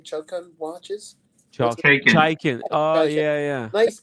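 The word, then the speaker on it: Chaykin: How do you pronounce his name? Chokan watches. What's his Shaken. Chaikin.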